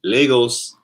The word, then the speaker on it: Lagos: Pronounced Lagos.